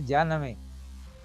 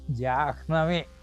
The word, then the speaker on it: Jahnavi: But people will call it as Janami. Jahnavi, yes, sir. They will not pronounce her. It is not Janami. It is actually Jahnavi, like that.